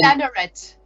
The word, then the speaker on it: Laneret: Did I pronounce that? Laneret. Laneret. Apologies. No problem. No, my French is terrible. You can say Laneret. It's the English style. Yeah, I know, but we always pronounce the T, right? And it's just not good. It's Laneret.